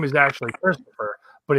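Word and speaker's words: Kristofer: know this but uh my name is actually christopher but it's spelled k-r-i-s-t-o-f-e-r that's what's up so i pulled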